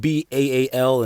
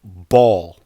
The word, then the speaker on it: Baal: is spelled b-a-a-l and I know a lot of times I'm tempted to pronounce it bail or Baal which is other pronunciations of it but they have another uh pronunciation of it too pronunciation of it that that reads ball just like ball just like the Jim Jones song balling ball to ball and this translates to